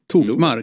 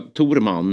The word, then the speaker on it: Tokmak: uttalas han så? Ja. Tokmark. Det gjorde inte SD. De sa Torman eller något sånt där.